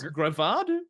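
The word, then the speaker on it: Greavard: __ ] thing um graveyard grayvard kind of a play on graveyard but it's gravado is that can you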